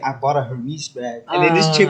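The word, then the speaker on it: Hermès: he bought a Hermes bag, right? But he didn't pronounce it Hermes. He said Hermes. Hermes. Yeah. He pronounced like a Greek god or something like that.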